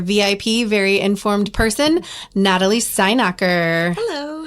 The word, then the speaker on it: Steinacher: Well, it's Stein, so you think like German beer?